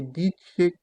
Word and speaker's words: dice: Si dice que. On se rappelle ici là que le C devant E se prononce che.